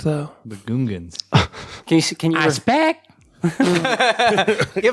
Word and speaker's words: Gungan: The Gungans. Can you can you give him the point just for that? How rude. People don't say Gungan at some point. Uh it's Gungan.